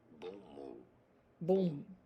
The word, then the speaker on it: bon mot: for reference in French it is said as bom meaning good word bom bom bom good word